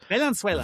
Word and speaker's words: Valenzuela: But it's Valenzuela. Valentine and Venezuela together. Oh, we didn't make that clear either when we started. It's Joel, not Joel. Joel. Valenzuela.